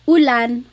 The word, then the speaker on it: ulan: And then letter U is an U sound. U. So ulan, upuan, rain and chair, u.